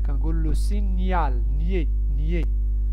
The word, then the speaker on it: signal: هاي عاوتاني واحدة أخرى ما كنقولوش le signal, كنقول le signal. nier. GN se prononce nier.